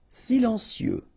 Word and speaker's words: silencieux: Silencieux. Final X not pronounced, okay? This part here will be pronounced like cieux, okay?